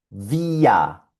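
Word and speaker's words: wir: Y esto suena vía, vía. Y vía significa nosotros.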